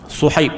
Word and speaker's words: Suhaib: Kalau Sad ni nak eja dalam Rumi ni, dia kalau kita eja S dia jadi Su tapi dia Su dengan sedikit tebal lah.